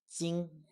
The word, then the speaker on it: 今: this part is pronounced 今 jīn 今 jīn 今 jīn which sounds exactly the same as the Chinese word for metal or gold which is also 金